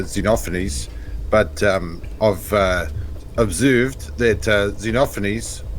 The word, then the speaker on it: Xenophanes: I think it's pronounced Xenophanes, but I'm not actually sure. Yeah, Xenophanes.